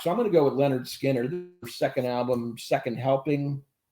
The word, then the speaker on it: Lynyrd Skynyrd: songs their their first album pronounced Leonard Skinner this and they're uh